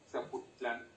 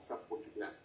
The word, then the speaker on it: Zapotitlán: Pero la última sílaba sigue sin acentuarse. Esto es Zapotitlán, no Zapotitlán.